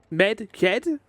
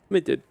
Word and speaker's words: Medjed: Medjed? Medjed? Not Medjed. Medjed. Medjed. Why is it said like that? Midget.